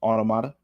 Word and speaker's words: Automata: yeah yeah fa says the Creator pronounces it near automata like it's written that's how I'm that's how I'm reading it right now so okay it's it automata maybe F can say